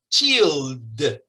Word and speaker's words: chilled: Si usted se pone la mano aquí, cuando pronuncia chill, chill, ahí hay una vibración. Chill. Entonces, este verbo debe pronunciarse en pasado como chilled.